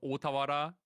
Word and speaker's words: Otawara: Yeah, it's called Otawara. But like if I say it like that, like no one's gonna understand what I mean. So I'm purposely mispronouncing the card right now.